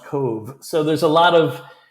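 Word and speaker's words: Cobh: of the ocean and that town is pronounced Cove c b BH is the gaic and it's pronounced Cove so there's a lot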